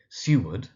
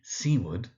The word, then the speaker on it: Seward: So it can be Seward, so Seward. It can be Seaward, so Seaward. And sometimes Seward, Seward. All three are absolutely valid.